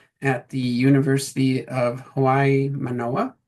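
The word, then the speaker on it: Mānoa: Today's speaker will be Kirsten Oleson, Associate Professor of Ecological Economics at the University of Hawaii, Manoa, correct? Did I pronounce that No. okay-ish? Yeah, University of Hawaii at Manoa.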